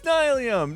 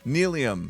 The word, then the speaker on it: Nylium: I know it's Nilium, Nilium, don't be so sillium. Nilium, Nilium, not the big dealium, it's Nilium. Ba-dum, bum, ba-do. Short and sweet. The block's called Nylium, Nylium, pronounce it rightlyum.